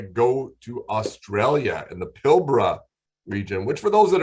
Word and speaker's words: Pilbara: a quick little tip whenever you see it it's spelled p-i-l-b-a-r-a but it is not pilbara that'll drive our aussie friends crazy it's pronounced pilbra all right there's your tip of the day